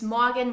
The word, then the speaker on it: Morgen: Another side note here, we don't pronounce the R in the word morgen. It's a so-called silent R.